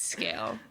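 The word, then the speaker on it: Sgaeyl: took me a second I was like scale wow that's how you're going to spell it s g a e y l that is not how I've been saying it in my brain no not at all yeah and I'm like oh it's scale it's scale it's scale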